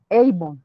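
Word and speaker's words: עָוֹן: Viene del hebreo Eibon, se escribe Abon, y significa, entre otros, aflicción, maldad, injusticia, vacío, idolatría, etcétera.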